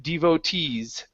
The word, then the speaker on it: devotees: this word here uh the stress is at the very end devotees devotees devotees okay very